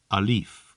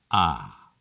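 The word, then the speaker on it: ألف: Outside of front door, pronounced alif or ah. To remember that in Arabic is pronounced ah, I see my doctor forcing a tongue depressor into my mouth and telling me to say ah.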